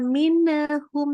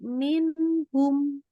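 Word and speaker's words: مِنْهُمْ: dari kata minhum ya minhum ini nunnya jelas Jadi enggak boleh sampai hati-hati masih ada tawaludnya jangan minhum tapi minhum minhum bagus yuk lanjut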